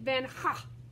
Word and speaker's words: Van Gogh: to be great so in holland you pronounce his name vincent ban that g doesn't even say it says vincent van ha is the right way to say it isn't that odd but